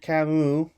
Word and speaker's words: Camus: This is Albert Camus, for my father there, who corrected my pronunciation.